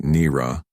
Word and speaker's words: Nira: She pronounced it Nira, with a soft roll on the R.